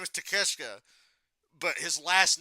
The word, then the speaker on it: Takeshita: His name is Takeshita, but his last name is spelled Take a Shit.